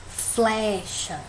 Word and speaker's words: flecha: Flecha. É o flé, né? Se a gente for olhar, ela é a penúltima sílaba, não é isso?